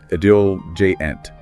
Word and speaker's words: ebullient: The very first word that jumped out at me was ebullient, and it's pronounced ebullient.